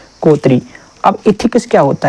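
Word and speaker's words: coterie: यहाँ पे ये जो इसका प्रोनाउंसिएशन है COTERI, इसको बोलते हैं कोतरी। क्या बोलते हैं? कोतरी।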